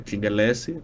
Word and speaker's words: Tchingue: Eu respondo no LinkedIn por Tingelese, nas redes sociais, que é Instagram e TikTok é a Tingelese, do jeito mesmo que se escreve ATCHINGUELSSY.